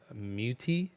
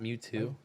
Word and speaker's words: Mewtwo: It's pronounced Mewtwo, not Mewtwo.